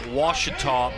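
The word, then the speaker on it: Ouachita: her dad played football in baseball at washita baptist university washita o-u-c-h-i-t-a she's probably heard it butchered so many times she's like i'm gonna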